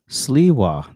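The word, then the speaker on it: Sliwa: uh people understand this moment coming back to you and a combination a lot of people did Siwa that's how you say his name the Republican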